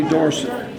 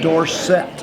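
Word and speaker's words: Dorsett: at pit as Tony dorson all of a sudden he changed his pronunciation of his last name to Tony Dorset okay you know why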